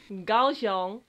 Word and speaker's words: Kaohsiung: So, this time it's a video from, I don't know how to pronounce it, I'll let my girlfriend do the job. Haulien! To Kaohsiung.